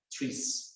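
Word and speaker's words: TRIZ: inventive problem solving and three-strike itself is being pronounced as trees trees right and all Innovation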